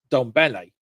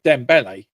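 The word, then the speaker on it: Dembélé: are bringing on Dom um Ramos and um Donle is it Donle? Sorry, maybe I'm getting his name wrong. Yeah, Dembele.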